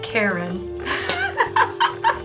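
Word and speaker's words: קֶרֶן: I I get to it and how you pronounce the word horn here because it's Coop Resh noon is Karen I'm like wait wait what Karen like Karen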